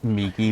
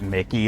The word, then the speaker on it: Miki: Um, anytime I see MI, my first thought is honestly me. Oh, okay. Yeah, cuz uh I I called them Miki the other day and